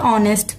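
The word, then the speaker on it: honest: কারণ এইচ কে আমরা ও এর মতো উচ্চারণ করে আমরা হনেস্ট বলি না, আমরা বলি অনেস্ট।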